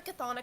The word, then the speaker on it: chthonic: I cannot pronounce it. The railroad for the chthonic gods.